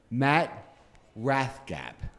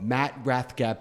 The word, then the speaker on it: Matt Rathgeb: Anyway, so first I want to introduce Matt Rathgeb of Matt Rathgeb Painting. Did I pronounce that right? You did, correct, sir.